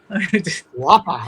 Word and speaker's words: Whopper: the Whopper, but he pronounces it like, the Australian way, Whopper. Wappa.